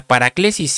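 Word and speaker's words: παράκλησις: La palabra exhortación que aparece aquí es una palabra griega que se pronuncia paraclesis y quiere decir exhortación, consolación, predicación.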